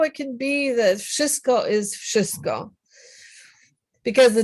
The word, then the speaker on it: wszystko: sh after a V, you can't say wszystko because kind of your mouth doesn't work that way. So the V sound turns into an F sound. So it's actually, if you wrote it down phonetically, you would have something like wszystko.